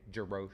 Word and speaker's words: Jarosz: And I think I remember seeing, I've never known how to pronounce her last name, Sarah with a J, Jarosz. Jarosz, yeah.